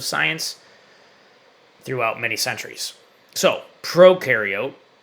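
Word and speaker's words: prokaryote: So, proariote ukareote is how you pronounce those.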